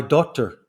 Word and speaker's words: daughter: I could say, my daughter gave me this mug. Okay, and sometimes my Scottish pronunciation makes people think I'm saying doctor. No, not doctor, daughter.